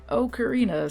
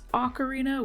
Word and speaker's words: Ocarina: Ocarina of Time my brain wants to say okarina so bad but apparently the proper pronunciation is Ocarina which just sounds wrong to me for some